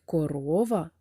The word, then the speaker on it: корова: наголошений склад наприклад корова в слові корова три склади наголос падає на другий склад діти скільки складів у